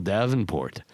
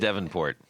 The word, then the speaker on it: Davenport: Eric Merrow, Plutone, Michael Davenport. It is right. I said it right this time. No. Is it Devonport? Is it Davenport? Why is Yeah. it spelled Davenport?